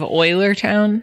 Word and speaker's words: Eulertown: Is there a silent E at the beginning of Eulertown? It's not silent. It makes an oi sound with the U.